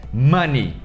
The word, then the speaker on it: money: Money, esse O tem som de ni. E a gente não fala Ney, não é Neymar não é o menino Ney, é ni. Money, money.